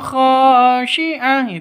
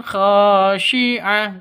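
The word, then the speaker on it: خاشعة: Yaumaidzin khasiah salah. Yang benar. Yaumaidzin khosyiah.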